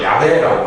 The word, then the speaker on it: 야훼: 그 천주교에서도 야훼라고 많이 합니다. 이 발음상 원어 발음이 좀 야훼라고 할 수 있다고 그러더라고요.